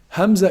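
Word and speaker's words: همزة: not sharp at all Hamza is pronounced from also the deepest part of the throw Hamza and hat so you can say ooh you put your tongue I'm sorry you put your finger in here the lowest part of the throat and you can feel the vibration that it Oh it oh that's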